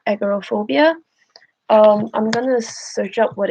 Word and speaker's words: agoraphobia: Agoraphobia, that's how you say it.